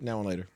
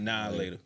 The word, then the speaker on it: Now and Later: Now and later. Nope. You from the Pacific Northwest. That's how you say it. How you Now later. Now That's later. the South. Now later. It's nah later.